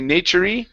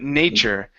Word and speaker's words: nature: We don't want to say nature-y, but nature.